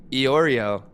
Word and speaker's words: Iorio: Iorio works. It is Italian. Iorio works. Oh, it is Italian. It's okay. We're just going to have you change the way you spell your name from here on out. If you would just spell it E-Y-E, Oreo, like the Oreo that we eat, that would be helpful. Like the cookie, right?